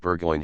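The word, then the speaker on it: Burgoyne: had a famous foxhound named bergoin he pronounced it budgeon which my informant use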